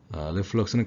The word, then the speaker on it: reflux: 그래서 reflux는 강세가 이름전에 있어서 reflux라고 하고요.